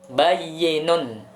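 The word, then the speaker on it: بيّن: Yang keempat, bayyinun, ya, huruf ya-nya ada tasydidnya. Bayyinun, artinya jelas.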